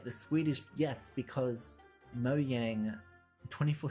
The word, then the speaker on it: Mojang: but people for years have been calling them mojang it's pronounced mojang it's pronounced moyang goddamn you're still live streaming i am